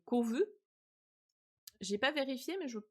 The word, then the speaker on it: Kovu: H je vous rappelle he que en japonais le B et le V c'est la même lettre. Donc elle elle le prononce Kobu. En français c'est Kovu.